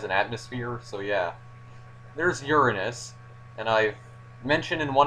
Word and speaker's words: Uranus: system that has an atmosphere so yeah there's uranus and i've mentioned in one of my previous videos that it's not pronounced uranus it's uranus that's the correct pronunciation but yeah basically uh